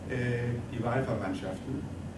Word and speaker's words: Die Wahlverwandtschaften: So he applied the idea of Empedocles that people, that the behavior of people can be explained by chemistry in his novel, Die Wahlverwandtschaften.